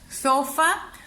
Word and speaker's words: sofá: penúltima sílaba ahora sí donde suena más mi voz al pronunciarlo sofá o sofá sofá o sofá me doy cuenta que suena más mi